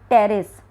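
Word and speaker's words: Pteris: इसकी एग्जाम्पल, जैसे कि इसका है टेरेस, पी साइलेंट है, ड्रायोप्टेरस, ठीक है ना।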